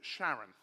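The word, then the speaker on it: Charon: of the underworld, but he pronounced it Sharon. So, it's a bit like Charlene. And so, I whenever we talk about the moon of Pluto, Sharon, I get letters from people who say, "I don't know ancient Greek."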